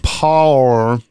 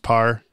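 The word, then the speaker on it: Paur: people directed by Frank power we haven't had for a little while yeah so I just recently found out it's just pronounced par but that's so boring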